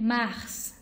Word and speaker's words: Mars: OK，那么我们的三月 Mars， Mars， Mars，对了，跟 match，有一点点像 Mars， Mars。好，记住这里的 S 是发音哦，Mars。